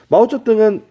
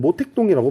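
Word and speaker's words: 毛泽东: 마오쩌둥은 어른들은 모택동이라고 불러요. 덩샤오핑은 등소평. 얘네를 중국어로 읽으면 마오쩌둥이라고 읽고 등소평을 덩샤오핑이라고 읽거든요.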